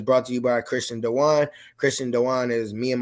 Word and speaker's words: Dejuan: So before we get into our conversation today, the episode is brought to you by Christian Dewan.